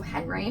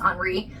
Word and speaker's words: Henri: So, Henry, but in French it's Enri um Beckural possibly.